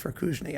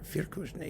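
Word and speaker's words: Firkušný: Uh and if you've heard it, I mean, it was written for Rudolph Fusni, I believe. Firkusni, if you want to pronounce it more correctly.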